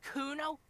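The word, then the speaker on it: Cuno: me to Nick it Kuno no I didn't it's Kuno say it right say it like it's said a pretty lame oron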